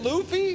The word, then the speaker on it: Luffy: it's it's how you say Luffy is it Luffy that's how you say it anyways you like